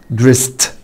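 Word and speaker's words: dressed: دريس دريس دريس يعني يلبس، دريست دريست. يبقى الاي مش هتنطق والدي هتنطق تي.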